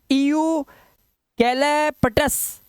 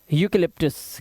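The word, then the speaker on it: eucalyptus: funny अब इयू है इयू कैले पटस नया बच्चा तो ऐसे ही पड़ेगा लेकिन है क्या यूकेलिप्टस क्या है यूकेलिप्टस मतलब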